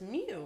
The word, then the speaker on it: mu: Is it Moo or Mew? Like the Pokemon? Mew? It's spelled Moo, but it's Mew, right?